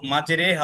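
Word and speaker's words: مجريها: বুঝতে পেরেছ এটা শুধু মাজেরেহা অর্থাৎ এ শব্দটার ক্ষেত্রে প্রযোজ্য অন্য কোন শব্দে এমন হবে না জি বুঝতে পেরেছ জি এখানে এক উচ্চারণ হবে আর এটা শুধু এই জায়গাতেই শুধু মাজরেহা এই শব্দের ক্ষেত্রে প্রযোজ্য যানবাহন যানবাহনে চলার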